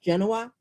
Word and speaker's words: Genoa: This is Genoa is what I call it, but I think it's pronounced Genoa.